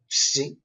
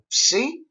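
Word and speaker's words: ψι: The letter psi is pronounced ps, ps, like maps, maybe.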